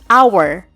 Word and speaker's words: hour: yang digarisbawahi pada kata our yaitu huruf H walaupun hurufnya adalah huruf konsonan tapi pengucapan dalam kata ini adalah our yaitu pengucapannya diawali vokal our sehingga pengucapannya adalah Z